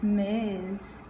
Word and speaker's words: Ms: is safe to use miss all the time means is spelled MS the S is pronounced with the Z sound for all males young